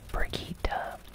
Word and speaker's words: Brigitte: Her name is Brigitte, even though it looks like it would be pronounced Brigitte. It's Brigitte.